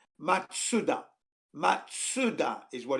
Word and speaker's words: Mazda: zoom zoom it's actually the actual pronunciation in japanese because it's a japanese brand is matsuda matsuda is what it's